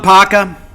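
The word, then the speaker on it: Kpaka: Suleiman Paka, it's spelled K-P-A-K-A, but it's pronounced Paka. The K is silent.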